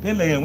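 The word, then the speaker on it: Pèlerin: Pelerin.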